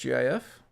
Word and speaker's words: GIF: According to Fran Blanche, it's pronounced GIF, graphical interchange format.